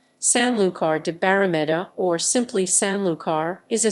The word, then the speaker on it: Sanlúcar de Barrameda: Sanlúcar de Barrameda, Spanish pronunciation, Sanlúcar de Barrameda, or simply Sanlúcar, is a city in the